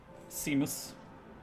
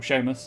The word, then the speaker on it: Seamus: that one down there is seamus or sheamus as it's technically pronounced i guess no further